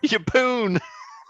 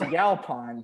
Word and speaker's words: Yalpon: Yapoon. I say that because that's going to be my pick. Is that how you say it? No, it's Yalpon, dude. Yapoon. There's only one O in his name.